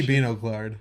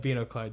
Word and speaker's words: binoclard: Maybe it's binoclard. I don't know. I didn't look up the pronunciation. Well, they say binoclard. Okay, yeah, binoclard.